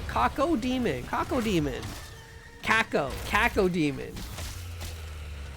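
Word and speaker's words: Cacodemon: Kaca demon. Kaca demon. That sounds wrong. That's not how you pronounce that. It's got an O in it. Kako demon.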